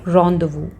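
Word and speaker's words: rendezvous: वो भी कहलाती है रॉन्डवू। रॉन्डवू ये एक फ्रेंच वर्ड से लिया गया, इसीलिए इसका प्रोनाउंसिएशन काफ़ी डिफरेंट है।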